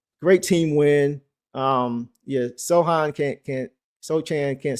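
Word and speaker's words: Sochan: Everybody saying it's so hand or so. I'm gonna go with Sohan. Said pronounce the pretend the C isn't there. C is silent with Sohan.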